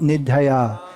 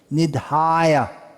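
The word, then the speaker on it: निधाय: So when it's long, dirgha, you say ah. That line on top means it's pronounced Nidhaya.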